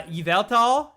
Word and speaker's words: Yveltal: in my gen six review i actually purposely pronounced it both ways uh all right so there's uh yveltal and and evital that's so there's both and